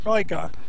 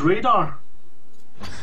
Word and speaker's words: Rygar: his name wrong, because it's something along the lines of Rygar. It rhymes with Vigor. Rygar. See, I just thought it was Radar.